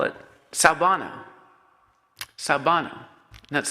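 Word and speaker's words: sawubona: they have a term they call it salvano sabano that's spelled s-a-w-u-b-o-n-a sabano and he describes that what it means literally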